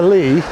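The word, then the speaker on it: Leigh: about how we pronounce Lee Road? Now, we know what a Lee is, don't we? A flat meadow area of ground. Yeah. And when it's spelled with a gh, it is a Lee.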